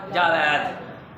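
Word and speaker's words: جاوید: ये जावीद होता है। क्या होता है? जावीद। जावीद है, असल लफ्ज़ क्या है? जावीद। जावीद है, जबकि हमारे यहाँ रिवाज ये है कि इसको जावेद या जावेद पढ़ा जाता है। इन दोनों में से क्या दुरुस्त है? जावीद। जावेद या जावेद में से जावीद दुरुस्त है, जावीद दुरुस्त है।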